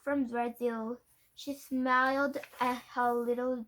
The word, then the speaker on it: Brazil: Brazil rhymes with Brazil. I thought it might help you remember my name.